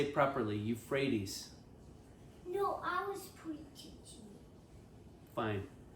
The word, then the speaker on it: Euphrates: Yes, Abram, saying, To your descendants, thus I give this land from the river of Egypt to the great river Euphrates. Say it properly, Euphrates.